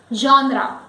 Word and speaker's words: genre: No, the word is genre, genre. Now here when we say G, it is not jaw, it is jaw. It is combination of zaw and shaw and it is jaw.